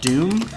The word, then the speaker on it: Dume: probably most excited about doom doom has been yeah that's been the moment it spelled weird can you spell it real quick it's the ume and it's actually uh